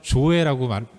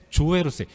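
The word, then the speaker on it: ζωή: 죽지 않는 영원한 생명, 헬라어로 조에라고 발음하는데 조에로서 영원한 생명을 얻게 되는 거예요.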